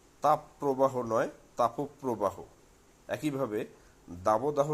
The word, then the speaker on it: তাপপ্রবাহ: অভিধান মতে তাপ প্রবাহ শব্দটি শুদ্ধ এবং এর উচ্চারণ তাপ প্রবাহ নয় তাপ প্রবাহ একইভাবে দাবদাহ শব্দটিও দাবদাহ নয়